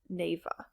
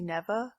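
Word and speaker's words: Neva: as two other nominations this one is Nava I'm not sure how to pronounce it it's by a Spanish developer and I don't speak any Spanish so I'm just guessing I looked after and it's actually neeva sorry about that I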